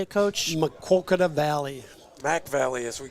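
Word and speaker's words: Maquoketa: or uh how do you say it coach makoka Valley Mac Valley as we called it in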